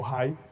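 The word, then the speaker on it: Hai: Pasa por Jericó, hay otra tierra que es Ai o Jai, ahí la vamos a pronunciar como Jai para entenderla, y por Bet-El.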